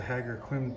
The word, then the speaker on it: Ħaġar Qim: looks and that's the haggar quinn temples i say quim but it's not quim and this is the